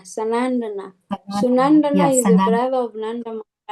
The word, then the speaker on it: Sanandana: Not Sunandana, Sanandana.